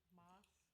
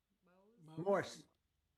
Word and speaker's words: Morse: Moss, M-O-S-E, Morse.